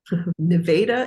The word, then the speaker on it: Nevada: So you went to Nevada, is that the correct pronunciation?